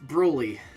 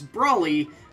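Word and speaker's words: Brawly: 24 our fight with brouilly whose name I'm pretty sure is actually supposed to pronounce Brawley but I can't not say brutally uh yeah I'd like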